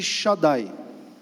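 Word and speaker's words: Shaddai: mais próximo do idioma chinês antigo e a pronúncia desse nome Xandi seria mais próximo de Shadai Shadai alguém consegue fazer associação com alguma coisa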